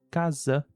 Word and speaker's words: casa: Então, para as palavras casa e para a palavra mesa, como estão entre vogais, tem o som de Z, tanto em inglês como em português.